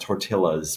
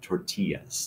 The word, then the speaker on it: tortillas: The double L, the LL in Spanish is a Y. So it's not tortillas, but tortillas. Tortillas. That's the gringo way.